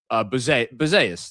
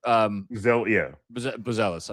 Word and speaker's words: Buzelis: Buzeus. That's Buzelis. I just mispronounced his name for the Bulls.